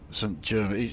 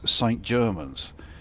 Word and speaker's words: St Germans: It really doesn't sound like I'm pronouncing it right. St Germain, it sounds like it should be something like, yeah, Saint-Germain, you know, as in Paris Saint-Germain, but no, apparently it is St Germans.